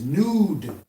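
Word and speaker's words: נוד: The Hebrew word for vagabond is nude. Nude, like N-U-D-E, but it's spelled N-U-D.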